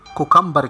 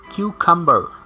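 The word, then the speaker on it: cucumber: क्यूकम्बर, खीरा, इसे most of people गलत प्रोनाउंस करते हैं, कुकम्बर कहते हैं, ये है क्यूकम्बर, क्यूकम्बर।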